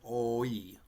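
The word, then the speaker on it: hoy: Remember what sound the H makes? Yeah, it doesn't make a sound, right? And so we're not going to pronounce the H, but we'd have an O, and so we'd say O, and then the Y would be E, oi, oi, oi, oi.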